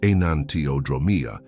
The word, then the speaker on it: enantiodromia: Anantromia, pronounced anantiodromeia, is a fundamental principle of